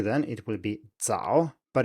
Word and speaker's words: 早: will be 早, but if you pronounce it with English pronunciation, as it were, it will be 早, or maybe 早 if you have the stop but still add voicing. So compare the two, first with an English accent and then with the correct Mandarin pronunciation.